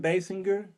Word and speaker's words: Basinger: Burt Reynolds, Kim Basinger, that's how you pronounce it.